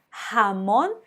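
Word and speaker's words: jamón: repetir comigo tá bom ramon que significa presunto então esse j não vai ter só um de mas atenção que sai da garganta ramone aproveitou a segunda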